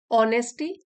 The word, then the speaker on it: honesty: ऑनेस्टी, ईमानदारी, H silent है इसमें।